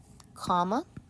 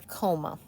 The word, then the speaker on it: comma: many times as a coma. That bugs me. Comma. This is 2 syllables. Comma, comma. As opposed to coma, comma.